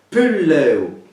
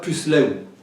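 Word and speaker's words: puslèu: Pulleu, alors, ne va pas se prononcer pusleu. Se prononce pulleu, mais qu'elle comprenne qu'il y a donc quelle séquence S, L et accent grave sur E.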